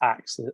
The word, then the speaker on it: Axe: It's actually just pronounced Axe, as in the English Axe, because it's based on a Bob Marley song, Small Axe.